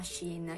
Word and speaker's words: Shein: ovvero sheen ed emessi si chiama scena io ho scoperto che si pronuncia così in una scena in